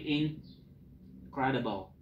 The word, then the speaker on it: incredible: Ini kan dibacanya tidak in tapi incredible.